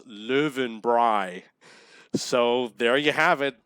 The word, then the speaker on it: Löwenbräu: Austrians and I asked them how to pronounce löwenbräu and they said it's pronounced live and Bry so there you have it live in Bry okay so we don't know if we hit